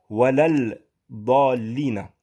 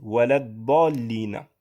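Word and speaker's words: وَلَا الضَّالِّينَ: Vous voyez ici un alif et un lam. Sauf que lorsque vous le récitez dans Surat al-Fatiha, vous ne dites pas walal dallina. Vous dites walad dallina.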